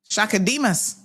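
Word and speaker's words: Chaka Demus: How do you pronounce Shaka's last name? Shaka Demas.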